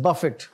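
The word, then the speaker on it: Buffett: इज व्ट 93 सो इनका नाम जो है ना यह लोग मिस प्रोनाउंस करते हैं वो जो खाने वाला बफे होता है ना या बुफे उस तरह नहीं है यह दिस इज बफिट और इसके स्पेलिंग में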